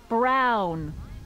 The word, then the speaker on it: Brown: That's Emmet Brown. Rhymes with clown, which I'm beginning to think you are.